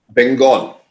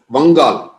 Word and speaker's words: Bengal: Now today got the state of Bengal in the east of India. So Bengal also locally is also known as Vangal. Bengal. Actually, most other languages in India call it Vangal. It's only the Bengalis who call it Bengal